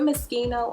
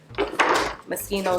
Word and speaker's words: Moschino: thing from moschino where how you say that word is it mosquito or machine how do you say it i say mosquito i think i'm saying it right but for some reason everyone pronounces it a different way so just comment down